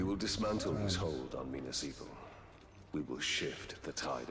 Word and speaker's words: Minas Ithil: We will dismantle his hold on Minas Ithil. We will shift the tide of war. So that's how you say it. Minas Ethel.